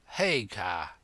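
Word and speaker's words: Haigha: name's his name is Hagar he pronounced it so as to rhyme with Mayor I love my love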